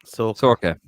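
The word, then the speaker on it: Saoirse: Good man, Martin. That's how you pronounce my name. How did you say Martin? Doherty? Sorka. There you go, Sorka.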